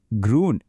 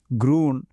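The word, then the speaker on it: grün: ഇനി നമുക്ക് പച്ചനിറം നോക്കാം ജർമനിൽ ഇത് ഗ്രൂൺ എന്നാണ് പറയുക ആ ഊ എന്ന അക്ഷരം കണ്ടോ അതിന് ഒരു പ്രത്യേക സൗണ്ട് ഉണ്ട് നമ്മുടെ ഊ പോലെ പക്ഷേ ചുണ്ടുകൾ കുറച്ചുകൂടി കൂർപ്പിച്ചു പറയണംഏ ഏകദേശം ഗ്രൂൺ ഗ്രൂൺ അതൊന്ന് പ്രാക്ടീസ് ചെയ്ത് നോക്കണേ. ഇപ്പോൾ ദാ ഈ കാണുന്ന സ്ലൈഡില്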